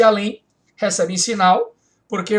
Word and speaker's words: além: Você não diz além, você diz além. Então, oxítona em EM.